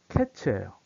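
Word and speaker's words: קץ: 그 다음에 끝이라는 단어가 캐츠예요.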